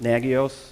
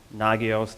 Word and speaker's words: Nagios: So there's tools that I looked at, and I picked 3 main open source tools around alerting with Nagios or Nagios, depending upon your syllable usage, monitoring our systems with Cacti, and then kind of doing log aggregation via the Elk stack.